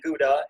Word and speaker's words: Gouda: But what we do here at So Damn Gouda, and we know cheesemongers, that's not how you say it. You know it's Gouda, but it doesn't work